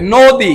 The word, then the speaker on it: নদী: দিলাম কি হয়ে গেল নদী নদী মানে ওটা মুখ গোল করে বলতে হবে নদী নদী বলেন সকলে নদী নদী নদী বলা যাবে না নদী বলা যাবে না মানে মুখ গোল না করলে সঠিক উচ্চারণটা আসবে না বলেন নদী নদী